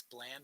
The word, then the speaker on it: Bland: mispronounced your last name it's bland not land my apologies thank you